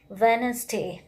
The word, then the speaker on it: Wednesday: case letter d should be silent examples are wednesday w-e-d-n-e-s we are not tailing word nasty wednesday